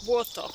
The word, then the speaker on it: Błoto: Błoto.